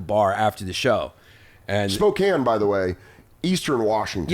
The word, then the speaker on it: Spokane: things first of all Spokane doesn't flow as easy as Spokane it's also k a n e yeah that's what I said I said if you want it to be Spokan spell it different cuz it's spelled Spokan it's such a New Yorker